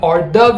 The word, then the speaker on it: hors d'oeuvre: Very commonly mispronounced. It's not hors d'oeuvres or anything of the sort. It's just hors d'oeuvre.